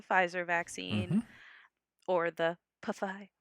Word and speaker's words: Pfizer: or the Pfizer. Pfizer. In Germany, they pronounce the P's.